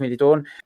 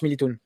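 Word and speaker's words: Militão: Édité, et c'est vrai que ça se prononce Militoun. Non, demande à Napola, ça se prononce Militoun. Non, au final, avec un Militown.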